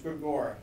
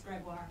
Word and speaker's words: Gregoire: Okay, so the first case is Farrakhan versus Gregor, the former governor of Washington. Did I say the name right too? I don't think we ever had decided how to say this. It's Gregoire. Gregoire, thank you.